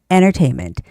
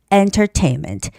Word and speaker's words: entertainment: or entertainment entertainment so you just sort of omit that t sound and make it an n sound entertainment entertainment or the hard t entertainment entertainment Okay.